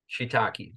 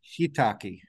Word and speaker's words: shiitake: So is it pronounced, so correct pronunciation, shiitake? Shiitake, two eyes. Shiitake.